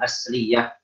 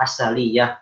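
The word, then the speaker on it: أسلية: wa ahrufus safir qul asliyah atau asaliyah, bisa dua.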